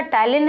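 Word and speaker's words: ptyalin: है spelling टाइलिन की, तो भैया स्पेलिंग जो होती है PTYA है, P से स्टार्टिंग है, पी टाइलिन है ना कि टाइलिन है ना। तो देखिए, P साइलेंट है कहने का मतलब।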